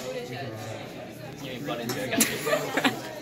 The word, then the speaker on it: Buttigieg: How do you say this? Mud and jig. Okay, you gotta keep her close. So, this guy's name is actually Pete Buttigieg. He's a Democratic candidate in 2020 for president. Yeah, and this is actually like Buttigieg.